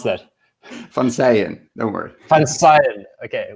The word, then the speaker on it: Koen van Seijen: from sayin no word fun side okay which is Dutch and yeah and couldn't